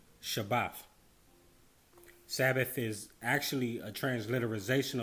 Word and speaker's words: shabbat: the word sabbath comes from this hebrew word pronounced shabbat shabbat sabbath is actually a transliteration of the word